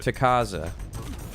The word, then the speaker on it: Takaza: Takaza. Takaza? Not... Okay, so it's a ta, not a ka.